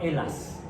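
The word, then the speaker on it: Ελλάς: Grecia en griego se llama Elas. ¿Sí está bien? Elas. Es eta, lambda, lambda, alfa, sigma. Así se escribe en griego.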